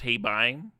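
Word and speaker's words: Hei Bai: Panda is pronounced Heibai.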